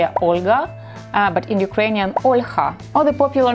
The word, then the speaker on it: Olha: And Olga got confused because in Russian language they are Olga, but in Ukrainian Olha, or the popular name Marina in Russian language or Marina in Ukrainian language.